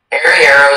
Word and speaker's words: arriero: Arriero is the only pronunciation.